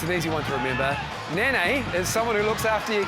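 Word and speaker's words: Nanai: easy one to remember Nan is someone who looks after your kids you know like a nanny it's actually pronounced Nani like n for an i which is exactly what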